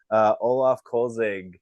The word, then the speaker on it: Olaf Kölzig: his whole career a few games of Tampa Olaf kolzig if I'm pronouncing it correctly welcome to the show yeah